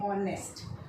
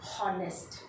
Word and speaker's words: honest: तो H यहाँ पर स्पेलिंग में है पर साउंड में नहीं है। हम बोलेंगे ऑनेस्ट, नॉट हॉनेस्ट। Okay, ऑनेस्ट।